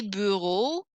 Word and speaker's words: bureaux: Les bureaux, with a silent X, you don't hear it, is the desks, plural.